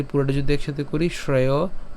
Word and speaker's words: শ্রেয়: কেমন হবে ভাবান এরপরে শ্রেয় শ্রেয় হ্যাঁ তালব্য স আছে বিধায় সেজন্য হচ্ছে শ্রেয় উচ্চারণ করলাম শ্রেয় ভোক্তুং এখানে আমরা যেটা